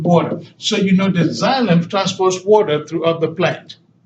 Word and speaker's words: xylem: water is called as xylem you pronounce it as like his Z if we do is spelled with an X all right let me